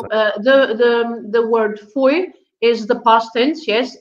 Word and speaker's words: foi: oi again it's uh i together is oi so okay and i've